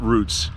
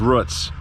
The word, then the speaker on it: Root's: It's not Roots, it's Roots. That's Pennsylvania Dutch.